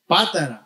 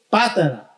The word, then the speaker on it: Patara: me with this word, Patara, is that correct? Yes? Patara, because there's an accent on the A, but sometimes I forget how to pronounce it. Patara, ¿ok?